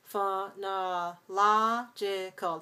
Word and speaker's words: phonological: have to change because the stress shifts from syllable 2 to syllable 3. Phonologist, 4, 3, that's 4-2. phonological. That's five syllables. We stress the third syllable, the third syllable.